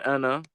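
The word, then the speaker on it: أنا: Interesting to note that the alif over here in ana is merely a feature of orthography. That is to say, it is not pronounced. It is never pronounced. Okay, the alif is not pronounced. It is just pronounced as if you were saying ana, but it is written.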